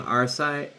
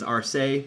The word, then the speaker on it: RSI: By the way, I'm saying RSI because that's how it says to pronounce it in the rulebook. I've seen it online as RSA, but I like RSI more, so...